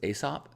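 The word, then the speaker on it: A$AP: married to Rihanna okay so it's asop is that how it's pronounced aha cool Carolyn says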